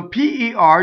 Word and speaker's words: per: short for solo so p r does not rhyme with the fruit in English pair right you don't want the vowel that's in chair a this is a